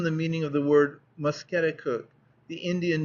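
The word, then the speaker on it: Musketaquid: meaning of the word muset cook the Indian name of conquered River he pronounced it mosquit cook emphasizing the second syllable with a peculiar guttural sound and said that it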